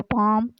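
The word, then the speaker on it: palm: उससे आगे पाम, पाम का मतलब हथेली भी होता है, पाम ट्री भी होते हैं, एल इसमें साइलेंट है।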